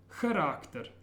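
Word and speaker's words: характер: Charakter, charakter. Charakter means character. And watch that at the beginning it's a ch sound, charakter.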